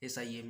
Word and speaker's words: SIMA: इसको सीमा नहीं बोलते, इसको SIMA हिज करके बोलते हैं। स्पेलिंग एक एक वर्ड स्पेलिंग करके बोलते हैं। SIMA है, ठीक है ना।